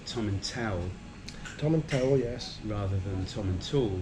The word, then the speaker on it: Tomintoul: So it's Tomintoul. So I'll never forget that now. I've been told how to say it properly, Tomintoul.